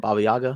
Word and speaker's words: Baba Yaga: Baba Yaga.